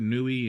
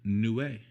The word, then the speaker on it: Niue: And then, of course, the 2016 Niue. Yes, I am pronouncing that right. I looked it up. I see a lot of people that will murder that word, Nui and Niu, and you can.